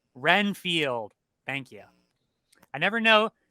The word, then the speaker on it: Renfield: Dracula I'm reinfeld reinfeld his name is it reinfeld or weenfeld Renfield Renfield thank you I never know would you ever